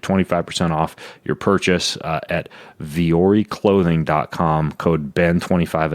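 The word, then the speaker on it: Vuori: and tie guy so it's called V or E but it's spelled different like what you'd expect its vu o RI vu o RI so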